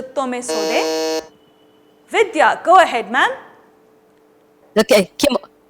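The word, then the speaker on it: tomesode: The original pronunciation is a tome sode.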